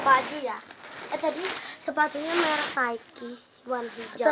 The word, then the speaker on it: Nike: Tadi sepatunya merek Nike warna hijau. Itu ada tulisannya Nike, tapi bacanya Nike.